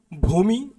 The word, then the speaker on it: ভূমি: উচ্চারণের ক্ষেত্রে দীর্ঘ বা এর কার থাকলে এর উচ্চারণ রস বা এর কার হয়ে যায় যেমন ভূমি দেখো তোমরা লক্ষ্য করো ভূমি শব্দের মধ্যে কিন্তু